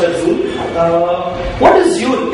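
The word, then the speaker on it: XUL: The first component that we'll be discussing is Zool, pronounced as Zool.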